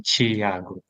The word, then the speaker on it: Thiago: Yeah, in Brazil we say Thiago.